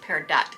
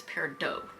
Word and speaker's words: peridot: just got told that it's not pronounced pear dot it's pure dough so these are the